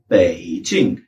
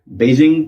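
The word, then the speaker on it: 北京: उसके बाद है जे और आई एन जी J initial I एन G final सो ये बना पेचिंग पेचिंग बीजिंग क्योंकि ये कैपिटल ऑफ़ चाइना है और बहुत इंटरनेशनलाइज़ हो गई है।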